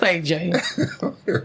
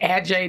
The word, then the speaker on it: Adjaye: Pronounced AJ.